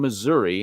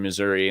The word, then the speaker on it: Missouri: the quick to say you don't pronounce it like gotta say Missouri Missouri it's Missouri it's not Missouri it's Missouri even though you know it's still misery I'm kidding maybe not